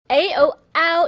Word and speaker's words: ou: Ow in Pinyin sounds like ow as in how or ou as in ouch.